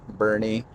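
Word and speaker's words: Boerne: Bernie is how we pronounce it.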